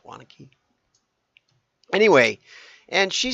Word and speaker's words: Waunakee: Not everybody would be able to pronounce that, but it's Waunakee, Wisconsin. It looks like Waunakee maybe, but it's not. It's Waunakee.